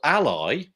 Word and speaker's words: Ally: It's a new product, it seems, and it's called Ally, A11Y, you know, but it's spelled Ally, A-L-L-Y, and it seems to be a web accessibility tool.